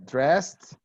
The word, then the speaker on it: dressed: S-E-D, only T. The same with K. Worked, asked, stopped, raped, raped. Okay? Raped. The sound, Okay. yeah, the sound is only T.